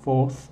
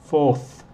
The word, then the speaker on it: fourth: Es un poco difícil de pronunciar porque este es el 4th, el sonido 4th. Solo es el, la lengua está aquí en los dientes y solo es el aire. No estás usando los cordones vocales.